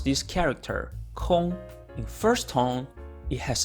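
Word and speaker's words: 空: you pronounce this character Kong in first tone it has a sense of void or emptiness in four tone however it means free time therefore y means to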